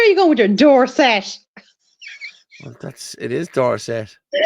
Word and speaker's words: Dorset: gone ridiculous hey Paul how how are you pronouncing the second word there which one which one the second one fibb Dorset Street blanch Dublin 15 NCR it's Dorset is it not just Dorset where are you